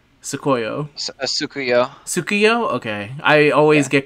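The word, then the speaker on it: Tsukuyo: Sukuyo, right? That is how you pronounce her name correctly. Sukuyo.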